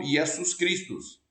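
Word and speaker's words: Ἰησοῦς Χριστός: Novo Testamento foi inspirado por Deus aparece como yesus cristos exatamente assim a pronúncia e em Latim é exatamente a mesma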